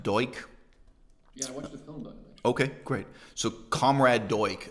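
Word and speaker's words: Duch: lifetime um you know uh his name is pronounced deutsch okay great so comrade deutsch as he's remembered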